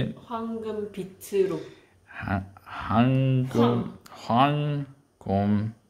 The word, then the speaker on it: 황금: 황금 빛으로.